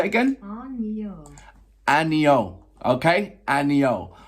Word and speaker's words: Ano: So it's Anyo. I'm going on Google Translate, literally, because I looked at that, I thought Anno.